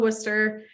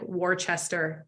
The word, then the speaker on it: Worcester: like the College of Worcester um but if I tell Siri Worcester she thinks it's like Worchester Massachusetts so she still has